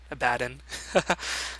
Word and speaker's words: Abaddon: that for sure but I'm always a big fan of the American pronunciation the lazier pronunciation a bad in no I'll call him abaton but yeah this is